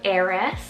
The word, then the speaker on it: Eris: last five names here i have the name eris spell e-r-i-s eris is a greek mythological goddess